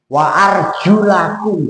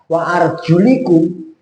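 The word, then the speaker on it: وأرجلَكم: Wa arjulakum. Nah, itu bacanya. Wa arjulakum lamnya. sebelumnya itu kan diruusikum. Nah, kalau dibaca wa arjulikum kaki berarti diusap maka bacanya wa arjulakum diatosfkan kepada wujuhakum dan aidakum. Kaki juga termasuk di diumah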